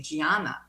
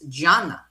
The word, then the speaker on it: Gianna: And they corrected us because here in America, we say Gianna, but the Italian pronunciation is Gianna, Santa Gianna. So that's how it's pronounced.